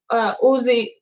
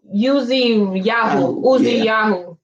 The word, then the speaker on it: Uziyahu: Thus they went forth to the gate of the city of Bet Uyah, and found standing there Uzi. I always say his name wrong. Uziyahu, and the ancient of the city, and Chabriz and Chamis.